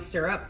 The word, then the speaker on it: syrup: People that overpronounce the Y in syrup sound weird to me. I pronounce it syrup. It might as well be S-U-R-U-P.